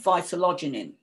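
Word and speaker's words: vitellogenin: And much of that protein is the form of vitalogenin. Now, different people pronounce it in different ways. That's how I pronounce it.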